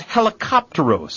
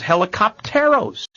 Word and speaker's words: Helicopteros: talked about it is Helicopteros, a 1984 case, Helicopteros. And again, this will test our Spanish pronunciation, and you may have a professor who says helicopteros, and that's wrong. It's Helicopteros.